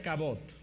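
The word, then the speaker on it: כָּבוֹד: La palabra se pronuncia cabot.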